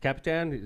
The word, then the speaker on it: Kapitan: Council woman right alen first term Ellen capan Capitan that's how you pronounce it right all right why you pull